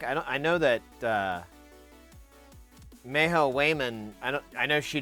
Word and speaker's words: Cwejman: it's a commercial module called uh Wayman which is I've been told this is pronounced and to dual adsr